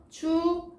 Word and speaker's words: 축하: 축하는 자음, 기역과 그 다음에 히읗이 만나서 뭐가 됩니까? 기역과 히읗이 만나 뭐가 돼요? 맞아요. 키읔이 되죠. 그래서 축하라고 발음이 됩니다.